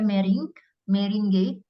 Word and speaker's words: meringue: Itu pakai meringue, tulisannya meringue, bacanya mering ya.